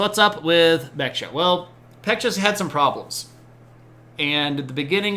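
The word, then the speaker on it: Baekje: moose you betcha uh the B is pronounced with kind of a almost a halfway between a b and a p though um pure uh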